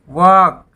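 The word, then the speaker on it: walk: उसके बाद टाक, मतलब बात करना, तो यहाँ भी एल साइलेंट। वॉक, वॉक टहलना, यहाँ भी एल साइलेंट।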